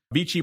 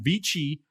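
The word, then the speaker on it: VICI: this is a newcomer this is american it'd be vc if it's italian it'd be peachy properties v-i-c-i ticker symbol vichy v-i-c i'm going to pronounce it the italian way because why not vichy properties this is a reit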